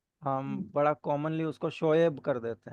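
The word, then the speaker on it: شعیب: बड़ा कॉमनली उसको शोएब कर देते हैं। वो शोएब नहीं है, वो शोएब है। मतलब करेक्ट प्रोनाउंसिएशन शोएब बनेगी।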